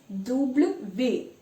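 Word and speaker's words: double vé: now this is interesting in english it's called double u break it double you because it has two u's it looks like two u's but in french it's double v double these why because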